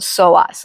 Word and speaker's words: psoas: know if you guys are familiar with the soas muscle it's spelled PS o a and it's it's pronounced soas P silent I I wasn't until I was